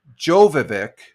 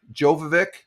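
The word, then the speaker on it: Djokovic: Uh the D is silent. So, I think I can pronounce this guy's name. Jovic. Jovik.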